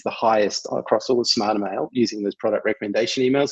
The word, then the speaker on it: Smartrmail: Now about Smartermail, and correct me if I'm pronouncing it wrong. It is Smartermail.